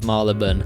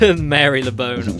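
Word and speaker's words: Marylebone: I listed the Wikipedia listed correct pronunciations of Maraban and said not to use Mary Leone. Yeah, that one I know for sure is wrong.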